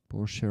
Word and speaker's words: Porsche: Porsche rhymes with Borsche.